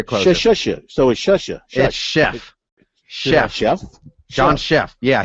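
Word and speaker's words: Szefc: go now you're closing so is shasha that's chef chef chef john chef yeah he said the worst it was ever pronounced was back when he was a player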